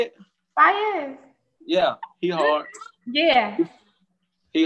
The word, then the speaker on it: Faiyaz: Faiyaz.